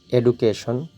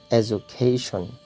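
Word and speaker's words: education: এই শব্দটিকে কি উচ্চারণ করতেন? নিশ্চয়ই এডুকেশন, কিন্তু এটা ভুল উচ্চারণ। সঠিক উচ্চারণ হচ্ছে এজুকেশন, এজুকেশন, এজুকেশন।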